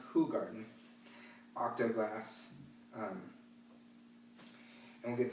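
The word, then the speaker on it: Hoegaarden: using a hoo garden who garden not hogan is pronounced who garden octo glass and we'll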